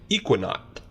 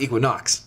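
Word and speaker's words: Ekuanot: And it's brewed with Mosaic and Equinaut hops. Equinaut? Equinaut. Not Equinox.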